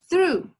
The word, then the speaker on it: true: ahora muy bien esta el tip para poder pronunciarla bien es poner nuestra lengua en la orilla de nuestros dientes superiores true muy bien no sé